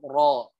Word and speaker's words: ر: lanjut ini adalah huruf ro gitu ya coba Roro juga Sama ya huruf rok ada yang tipis dan ada yang tebal coba kira-kira Apa yang